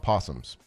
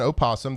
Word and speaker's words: opossum: The tripod had no idea that it's uh spelled with an O. Uh, it's an ooasum. The North American opossum. Um, but most people know it as a possum.